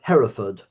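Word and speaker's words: Hereford: Do you call it Harford or Hford or how do you pronounce it? Heraford.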